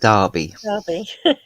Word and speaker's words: Derby: that is spelt uh it's d e r b y derby yeah but here we call it darby yeah yeah we've got